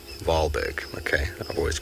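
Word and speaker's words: Wahlberg: in the n in the 1800s wall is pronounced V valberg okay I've always called them a wallberg I've just realized we've been pronouncing it wrong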